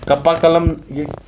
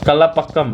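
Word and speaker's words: Kalpakkam: वो कप्पा कलम, ये इसका स्पेलिंग गलत है, ये कलापक्कम है, कलापक्कम है, ठीक है।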